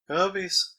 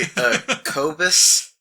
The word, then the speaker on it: Kobus: Kobies? Yeah, they're actually Kobus. But they're called Kobus, but when we read it initially, we weren't savvy to the pronunciation of the name, so we called it Kobies, and we were doing